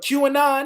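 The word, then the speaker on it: QAnon: that but go ahead i don't know how to pronounce this correctly but q anon is that how you pronounce it that's it q and r yep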